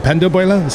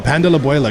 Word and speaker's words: pan de la abuela: Or pan de abuela? How do you say it? Yes. Pan de queso, pan de bono. No, pan de la abuela.